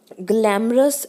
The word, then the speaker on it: glamorous: For instance the word glamorous always have strong stress on the first syllable, whereas the word begin has stress on the second syllable.